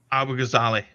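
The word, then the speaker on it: Abu-Ghazaleh: Abu Ghazali.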